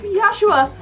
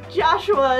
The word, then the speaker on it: Yoshiya: The proper pronunciation is Yoshiya. That's my first name. is my last. So, Joshua is not exactly accurate.